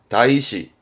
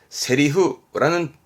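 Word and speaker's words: 台詞: 발음은 다이시, 다이시. 근데 다이시라는 음독보다 얘는 세리후라는 특별음으로 읽힙니다. 세리후. 대사를 말할 땐 세리후입니다.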